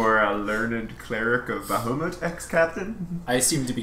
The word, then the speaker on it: Bahamut: Are you getting annoyed with the constant mispronunciation of your god's name? Bahamut.